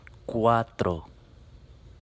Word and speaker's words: cuatro: cuatro all right let's make our vowels pure and make our r a nice bounced r to do that remember the t in front of it bite your tongue so instead of quat by the tip of your tongue will allow you to make that r afterward have a closer look cuatro